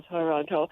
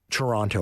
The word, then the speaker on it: Toronto: words, and I think they pronounce each syllable separately. Okay. Equals with no accent on either of them. Now, Montreal's French word was Mont Royal, so it's different. So Toronto, pronouncing that second T would be correct. No, I think, pronouncing it, yes, but all syllables equal Toronto.